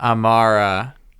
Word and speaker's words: Amara: Amara. Yep. Wow. Three syllables. Amara.